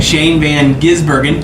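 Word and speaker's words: Shane van Gisbergen: say his name I said Shan Shan van Shane Van gizbergen I said it right there you go and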